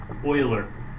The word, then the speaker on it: Euler: here it's called Euler's Euler it's e capital e it's a person thing II you le are it's pronounced Euler like oil hey that's how it's